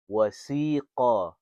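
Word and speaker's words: وَسِيقَ: So it's qaf, fat, qaf, fatha, qa, wasiqa, wasiqa. See, that's how you pronounce the very first word of this ayah. Wasiqa.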